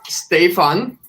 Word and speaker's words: Stefan: so my name is stefan it's literally pronounced as stay for fun without the four i'd like for creating